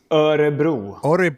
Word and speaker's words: Örebro: Do you pronounce it Örebro, Sweden? Örebro.